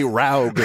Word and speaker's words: Raug: Oh, it's actually Raug like Smaug.